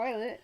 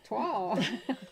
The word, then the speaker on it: toile: Not toilet, twall.